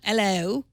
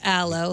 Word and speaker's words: Allo: that's not available yet Alo it's spelled Al but but not Alo but Alo like the stuff you put on your skin from the plant it's a new messaging